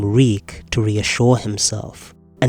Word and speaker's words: Reek: Reek. It rhymes with Shriek.